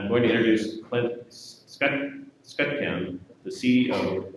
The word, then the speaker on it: Skutchan: Yeah, Skutchan, right, is how it's pronounced. Apparently, it's the Americanized version of a Czech name.